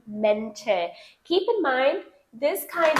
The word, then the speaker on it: Mäntel: You don't say die Mantel, you say die Mäntel.